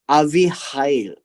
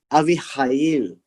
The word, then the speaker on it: Abihail: the turn came for Esther, the daughter of Abihail, the uncle of Mordecai. So Abihail would be the uncle. So the father's brother. So Abihail is the father's brother's daughter, right? It is pronounced as Avihail, Avihail, but doesn't matter, right?